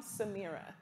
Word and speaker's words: Samira: more than one time samira no samira like sam samira i have to say